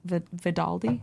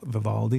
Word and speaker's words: Vivaldi: I'm really liking Balk and Vidaldi. Is that how you say it? Viv Vivaldi.